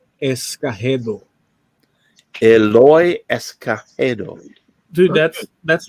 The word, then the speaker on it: Escagedo: The correct original name without any, would be Eloy Escagedo. Eloy Escagedo. Dude, that's like, it's like perfect. Eloy Escagedo.